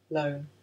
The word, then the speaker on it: Lone: Lone. Rhymes with cone.